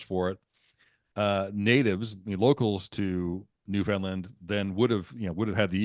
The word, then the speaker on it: Newfoundland: But outside of people that lived in the area, both of those pronunciations were used. There were folks that said Newfoundland and other folks that said Newfoundland. So technically they were both correct. But again, today it's still the Newfoundland pronunciation is still quote unquote correct.